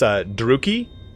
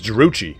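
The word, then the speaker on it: Druchii: I assume, like, for instance, Druki, I thought it was Druchi for fucking years. I think it wasn't until I saw the Warhammer 2 thing where it talked about it being Druki.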